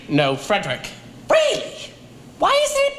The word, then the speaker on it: Frederick: Then your first name, do you pronounce it Fredrick? No, Frederick.